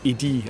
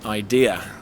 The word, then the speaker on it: idea: Next one of my favourite I always hear : an "idi" I always hear I have an "idi" but no, it's an ideA, similar words, but in English three syllables I-DE-A. Never an "idi".